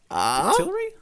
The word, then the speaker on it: Octillery: It's oillery.